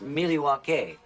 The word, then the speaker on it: Milwaukee: Regardless of their second-round exit in the playoffs, an impressive record snap from Milwaukee. Actually, it's pronounced Milwaukee, which is Algonquin for the good land.